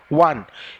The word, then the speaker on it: one: সাতের দাগেরটা দেখো ওয়ান I deer ওয়ান আয়েড ওয়ান এই কথাটা দেখো ওয়া ডব্লিউ ও এরকম একটা